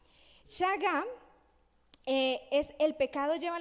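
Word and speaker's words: shagá: que esto es importante saga del hebreo con sh s h a g a saga acento en la última a saga es el pecado lleva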